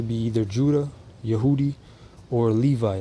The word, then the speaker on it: Levi: either judah yehudi or levi levy that's how they say it where's the other tribes